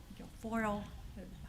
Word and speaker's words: Guilfoyle: Guilfoyle. Tongue does not wrap. Rhymes with tinfoil.